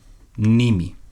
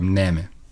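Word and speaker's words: μνήμη: There is a mention of memory, mnemi in Greek, or mneme, depending on how you pronounce the eta.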